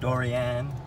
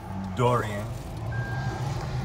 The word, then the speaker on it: Dorian: evening before hurricane Noren I believe this how they pronounce it durian durian category 1 or 2